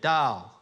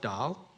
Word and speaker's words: dal: that lentil is everywhere Dal it's not you're not calling your wife doll it's spelled a little different and on the back